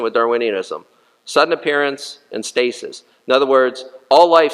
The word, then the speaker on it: stasis: sudden appearance and um stasis two syllables like something stasis stasis means if you